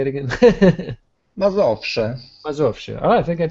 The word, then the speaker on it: Mazowsze: Mazowsze.